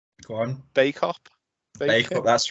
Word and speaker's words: Bacup: Bacup. Bacup, that's right, yeah, you're right. Yeah. So it looked like Bacup, but Yeah. I knew it wasn't pronounced like that.